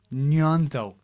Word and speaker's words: Gnonto: an a name pronunciation update uh wilfred yonto nyanto n-u-e-n-t-o is how it's pronounced spelt g-n-o-t-o so william nianto um again this morning so mixed reports with